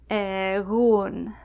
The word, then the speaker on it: egun: Between vowels, it's a very soft G. You kind of have to pronounce G without touching the top of your tongue to the back of your mouth. Igo, egun.